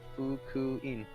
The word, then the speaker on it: Fukuin: You gotta pronounce it separately, each syllable. Come on. Fukuin.